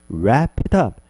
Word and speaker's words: wrap it up: 그래서 wrap it up, wrap it up, wrap it up 이렇게 부드럽게 발음하면 조금 더 자연스럽게 발음이 되겠네요. 천천히 하면 wrap it up